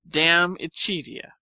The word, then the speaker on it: De Amicitia: We've finished Livy and De Senectute, and are now engaged with De Amicitia, pronounced Dam Ichidia.